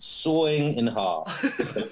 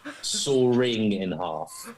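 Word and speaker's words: sawing in half: the correct way uh how i pronounce it sawing in heart definitely not soaring in half so paul i didn't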